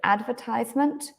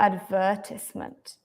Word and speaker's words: advertisement: say adver advertisement so you can say this word in two ways advertisement or advertisement but to be honest